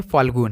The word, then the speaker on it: फाल्गुन: जिसे हम लोग गाँव में सिर्फ फाल्गुन बोलते हैं, उसका राइट प्रोनाउंसिएशन क्या है? फाल्गुन है, याद रखिएगा, इंपॉर्टेंट सवाल है।